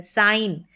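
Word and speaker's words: sign: है तो यहां पर जी क्या है साइलेंट है साइन साइन ऐसे देखेंगे ये सिन पढ़ा जाएगा ठीक है सिन पढ़ा जाएगा लेकिन जब हमको साइन के स्पेलिंग लिखनी है तो यहां पर जी आ रहा है और यह साइलेंट है हमने लिखा डिजाइन और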